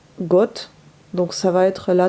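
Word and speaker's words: год: god l'année on dit on écrit god mais ça se prononce got donc ça va être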